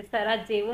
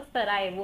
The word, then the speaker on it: Sarajevo: तो सिरिलिक में जे को वाई की तरह प्रोनाउंस किया जाता है. जैसे सराजेवो नहीं होता, वो सरायवो होता है क्योंकि जे है वो उनका वाई है.